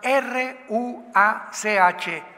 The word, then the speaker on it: ruach: la palabra como suena r u a c h ruach que es la palabra hebrea que significa espíritu y se pronuncia la ch en el hebreo como j ro como J raj